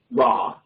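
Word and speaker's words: רע: In English pronunciation, raw.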